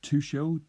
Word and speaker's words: Tuchel: Tuchel.